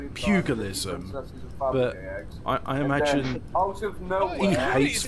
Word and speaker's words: pugilism: boxing was called cutilism, because I only ever heard Chris Eubank pronounce it as cutilism when it's about pugilism.